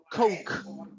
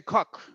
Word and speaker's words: Coke: Okay, so we have a pronunciation like this one, like K and then O and then K, like Coke, Coke.